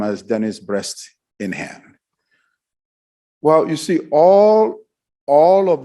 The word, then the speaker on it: Bresnahan: When he called her to introduce himself as her supervisor, he defined or pronounced his name as Dennis Breast in Hand.